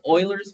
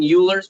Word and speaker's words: Euler: First one is called Euler's method. Don't you mean Euler's method? No, I mean well, this dude spoke German, and that's the German or close to the German pronunciation.